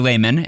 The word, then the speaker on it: Laymon: I asked you for someone who makes the internet a better place, and you said Kiese Lehman, who is on Twitter and Instagram at Kiese Lehman. Kiese is spelled Kiese.